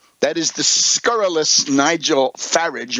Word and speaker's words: Farage: we hope, called the Brexit, showing again how easy it is for a tin-horn demagogue, a scurrilous demagogue like Nigel Farage, rhymes with garbage, to come along and